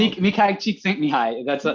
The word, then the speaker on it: Mihai Csikszentmihalyi: I know he's so hard to pronounce. Mihai Csikszentmihalyi.